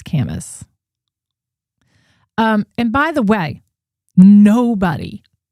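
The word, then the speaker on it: Kamas: By the way, somebody's mentioning, sorry to have made you curse to show you how to pronounce it's Camus, right? It's Camus.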